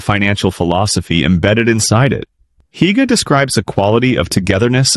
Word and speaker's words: hygge: The Danish concept of hygge, pronounced "hoo-ga", has entered global consciousness in recent years.